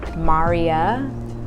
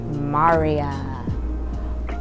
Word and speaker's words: Mariya: So it is Mariya, like Mario, but with an A instead of an O.